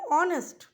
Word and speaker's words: honest: কিন্তু যেহেতু এখানে অনেস্ট, হ উচ্চারণটা এখানে হচ্ছে না, অনেস্ট, তাই এইচের উচ্চারণের সাথে এই শব্দে এইচের উচ্চারণের সাথে প্রাসঙ্গিকতাটা আসছে অ্যান বসানোর।